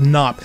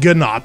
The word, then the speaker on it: Gnop: Linus says he thinks it's pronounced Knop. We always said Gnop because it was basically Pong backwards.